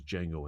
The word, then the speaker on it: Django: The D is silent. I know. D is silent here, baby. Name-checking Sergio Corbucci. in Once Upon a Time shows how much Django Unchained wears its heart